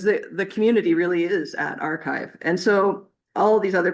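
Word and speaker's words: arXiv: The original one that may be most familiar with people is called Archive. It's spelled like AR and then the big XIV.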